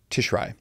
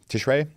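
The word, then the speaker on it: Tishrei: the Hebrew month of and I apologize for my mispronunciation here tishri I'm sorry tishray the seven month of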